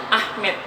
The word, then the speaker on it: Ahmed: Ya, kalau ejaan kita mah Ahmad. Cuman orang Turki mah nyebutnya Ahmed.